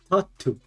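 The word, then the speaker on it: タッツー: Tatu. Tattoo. Tatu. But it's spelled Tattu. So.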